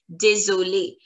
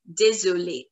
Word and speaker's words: désolé: And pronunciation is going to be désolé. Both the cases, the pronunciation is the same. Désolé, désolé, désolé.